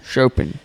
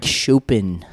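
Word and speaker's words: Chopin: Shopen. Frederick Shopen. Yeah, I think that's how you pronounce his name.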